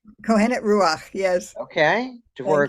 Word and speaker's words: Kohenet: excited to welcome dwar grin to the show cohenet did I pronounce those things correctly cohenet ruach yes okay for a grand PhD she's